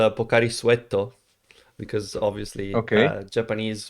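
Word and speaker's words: ポカリスエット: okay yeah it's uh it's a japanese sports drink that is actually pronounced pocari suetto because obviously okay japanese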